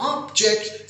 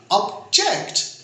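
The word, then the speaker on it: object: आपने इसको कहा ऑब्जेक्ट, तो ऑब्जेक्ट स्ट्रेस देने से पहले सैलेबल में ये एज ए नाउन हो जाएगा, कोई मफूल या कोई काम, ऑब्जेक्ट। अगर इसको यूं प्रोनाउंस किया ऑब्जेक्ट, तो ऑब्जेक्ट, जेक्ट पे जोर डालने से, स्ट्रेस डालने से और मायने चेंज हो जाएंगे। ये एज ए वर्ब बन जाएगा, एतराज करना।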